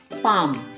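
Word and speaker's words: palm: उसके बाद पाम. पाम में एल साइलेंट है.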